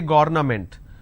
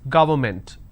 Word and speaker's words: government: Don't say government. It is government.